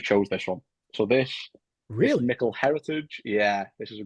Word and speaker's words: Micil: Although it may look like some it'll be pronounced Micil or Mitchell, but it's Micil with a hard C, well, K.